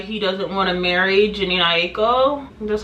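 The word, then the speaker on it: Jhené: talking about why he doesn't want to marry Jano that's how you pronounce her name uh he was doing like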